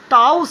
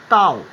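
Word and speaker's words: tau: টাউ সিম্বলটা ইউজ করলাম, টাউ টাউ টি, টির মাথাটা একটু বাঁকিয়েছি, টির বডিটাও একটু বাঁকিয়েছি, উচ্চারণ টাউ, উচ্চারণটা হচ্ছে এরকম টয়ে আকার ও টাউ টাউ।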